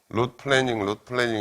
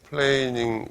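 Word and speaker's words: planing: 중요한 거예요 지금 할 텍스를 영어로 플래닝 이렇게 발음하는데 그건 틀렸고 플레인 어떤 평면이라는 플레인 플레잉 플레인이라는게 동사로 쓰고 이렇게 평평하게 하다 뭐 그런 뜻이거든 루트 플래닝 해가지고 여기에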